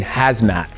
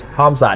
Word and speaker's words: Hamzat: So when I see stuff and when I read it, you know, like Hamzat, I was saying hazmat. And my producer's like, no, dude, it's not hazmat, it's Hamzat.